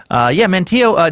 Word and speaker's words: Manteo: So I got someone sent in a North Carolina pronunciation guide, and you know what? I used it. Manteo, named after a big player in today's story,